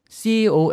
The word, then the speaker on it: cologne: 잊어 그 남성들이 쓰는 그 화장수 컬러 온 cologne 하고 발음이 조금 비슷하게 드릴 수도 있는데 대장 을